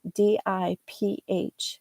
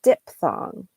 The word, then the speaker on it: diphthong: AY, that's called a diphthong, diphthong, diphthong. So the PH sounds like an F. But many people, again, like my oh constantly example, will say diphthong. They'll just take out that PH.